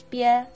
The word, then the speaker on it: 别: b plus e plus e makes 别, as in 告别, which means to say goodbye to someone.